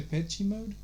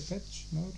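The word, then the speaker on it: Depeche Mode: m o d e isn't it pronounced in the petchey mode the bets the bets the patch the patch mode yeah i've heard somebody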